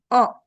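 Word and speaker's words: を: Dahliasa mau coba ee mau tanya dulu sense yang sebelahnya itu o o yang ini bukan? Iya ya. O ditulisnya Wo dibaca O koto.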